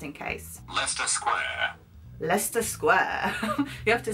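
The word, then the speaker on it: Leicester: know that you know it can be pronounced Lea or leer or le le leester Square all of these I'm pretty sure is Lester Square let's just check my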